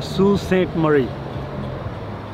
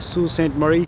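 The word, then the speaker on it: Sault Ste. Marie: इस शहर का नाम है सू सेंट मरी। स्पेलिंग आप देखेंगे तो डिफरेंट लगेंगे लेकिन ये फ्रेंच नेम है सू सेंट मरी।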